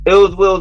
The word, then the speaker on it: iLLzWiLLz: it's iLLzWiLLz Watu'z, and that's ill will with 2 Z's, and it's spelled iLLzWiLLZ.